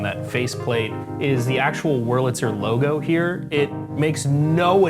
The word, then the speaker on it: Wurlitzer: Wurlitzer. That's how you actually pronounce it.